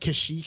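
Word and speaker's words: Kashyyyk: now here's the thing I will argue that kashik is the right way to say it because in Battlefront 2 the droids say kashik and if anyone's going to get the pronunciation right it going to be droids wow I don't know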